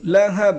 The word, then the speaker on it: لهب: তাব্বাত ইয়াদা আবি লাহাব লাহাব হ্যাঁ বড় হ্যাঁ একটা গরম বাতাস বের হবে আবি লাহাব তাব্বাত ইয়াদা